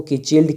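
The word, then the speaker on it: cichlid: वो यहाँ पे किचिल्ड, हाँ इसका जो प्रोनाउंसिएशन है वो किचिल्ड करके ही है।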